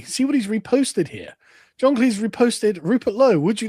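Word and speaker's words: John Cleese: John Cle's person.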